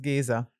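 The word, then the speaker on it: Géza: It's actually pronounced Geza. Yeah. But of course, everybody called him Giza.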